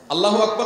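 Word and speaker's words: الله أكبر: আল্লাহু আকবার উচ্চারণ করার সময় আকবারের রাকে টেনে পড়া ঠিক হবে কিনা, না ঠিক হবে কেন, তাজবীদের সাথে বলতে হবে আল্লাহু আকবার আল্লাহু আকবার, এরকম বলা যাবে না।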